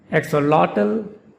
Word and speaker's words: axolotl: The stress is on the third syllable in both the pronunciations. And there is a very slight difference in the pronunciation of the third syllable in both pronunciations of this word.